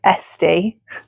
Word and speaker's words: Esti: It's not Etsy, it's Esti. E-S-T-I.